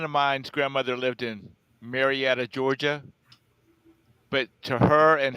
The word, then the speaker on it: Marietta: for a hundred oh you're talking about marionette Georgia yeah no Marietta Georgia I didn't understand you when you pronounced that way it's Marietta Georgia uh her mother his grandmother and her friends called it may Reda says a-r-a-b what